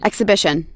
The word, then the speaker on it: exhibition: Exhibition. Okay, XC, right? Exhibition. Okay. Exhibition. Yes, okay, exhibition. We don't pronounce the letter H, right?